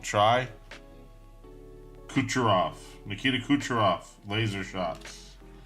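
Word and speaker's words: Kucherov: put your off Nikita kucharov laser shots Nikita kucharov that is how you say it took me a second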